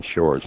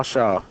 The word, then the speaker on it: Shaw: They said that I was saying Jason Shore's name wrong. Shaw. Sure, yeah. S-H-A-W. Well, Yeah. you got that accent. Well, what do you call him? Jason Shaw. Jason Shaw, huh? Yeah. Like S-H-A-W. hee-haw. Yeah, hee-haw. Shaw.